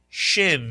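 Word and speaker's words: ש: The name of this letter is Shin Mitsu Yan.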